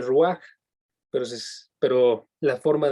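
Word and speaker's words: רוח: neuman y en hebreo esa palabra es rúa que se escribe muy raro ya lo escribí en el chat para que lo vean se dice rúa pero es pero la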